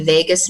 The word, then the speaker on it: vagus: It's called the vagus nerve. It sounds like Las Vegas, but it's spelled VAGUS.